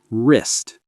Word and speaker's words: wrist: W is silent. Right. Wrong. Wrist.